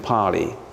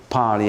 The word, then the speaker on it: Pali: But the most common are two, Sanskrit and Pali.